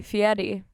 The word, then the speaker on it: Fieri: you might be thinking why are you saying Fieri fatty that's how he pronounces it and I respect I